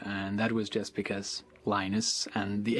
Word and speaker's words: Linus: I speak Swedish it's heinous when I speak Finnish it's Lino's when i speak english it's Linus and I really don't